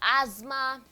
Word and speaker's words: asthma: We have zoo, we have rose, we have clothes, we have asthma. It's not asthma, it's asthma.